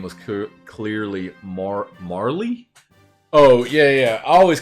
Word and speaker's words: Marle: Until I was corrected on a recent stream. When I played through it, Marley. But I'm still going to call her Marl. I don't care. If they wanted it pronounced Marley, they should have spelled it more clearly.